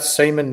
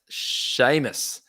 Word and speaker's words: Seamus: them tell me about Seaman Mitchell yeah so it's actually pronounced Sheamus Sheamus Mitchell you don't get semen from I don't know yeah it's an Irish name Seamus Mitchell it's it's